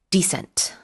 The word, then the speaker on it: descent: 그때는 스펠링이 d c e n t descent.